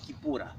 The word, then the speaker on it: Kipura: It means the way of freedom, and Kipura is the correct Kikongo term, which was mispronounced in 1712 by specifically a guy named Rafael Bluto as Capoeira.